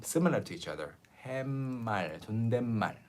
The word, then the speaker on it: 존댓말: Why is the 시옷, 사이 시옷 pronounced like 니은 before 말, 존댓말? Why is it pronounced like 존댓말? And the reason is here. 존댓말. You like if you read everything one by one, 존댓말. But in Korean, when you pronounce the last consonant of a syllable, you do not open your mouth again to pronounce the end like English.